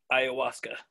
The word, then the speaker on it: ayahuasca: kentucky ayahuasca cult oh ayahuasca the h is silent ayahuasca yeah yeah there it's